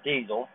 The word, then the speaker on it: Dezl: this is the Garmin Denzel or diesel 785 hours it's properly pronounced all right here is